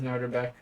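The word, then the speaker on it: Nodirbek: Yes, I think that's how you pronounce it. Yep, that is Noderbeck.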